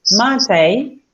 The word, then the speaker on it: mate: En el primer párrafo, la primera oración, ahí la topic sentence que llamamos en inglés, la oración principal, dice, yerba mate, that's pronounced mate, is not a new discovery.